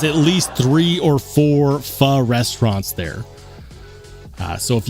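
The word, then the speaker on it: phở: I've seen some fur with I've I don't know why I called it fo.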